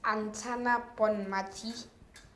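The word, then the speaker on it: Aitana Bonmatí: Now, the women's Ballon d'Or, that was announced by Novak Djokovic, was given to Antina it's a very difficult name to pronounce. I believe it's Antana Bonmati.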